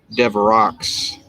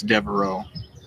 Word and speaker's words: Devereaux: his name is pronounced d-e-v-r-e-a-u-x and i would pronounce that devaro um it's one of those words those french words are words of the french spelling i mean you could pronounce in english as a dev rocks but i believe it's devereaux because it's a french derivation anyway that was the